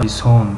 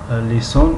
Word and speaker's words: لسان: لیسان لیسان، یک کمی به زبان تاجیکی تلفظش کردم، لیسان گفتم. لیسانون لیسانون، لیسان زبان، هم زبانی که عضوی از بدن ماست و هم زبانی که گوها به معنای زبان یک ملت استفاده می شود. اگر شده زبانی که زمین را لغت می گویند، اللغه العربیه یا لغت العربیه، اما لسان گوها تلفظ می شود، یعنی زبان عرب.